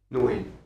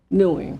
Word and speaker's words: Nguyen: That last name is pronounced how? Nguyen Nguyen. Nguyen. Newing.